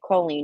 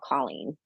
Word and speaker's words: Colleen: Her name is they pronounce it Coleen, not Colleen.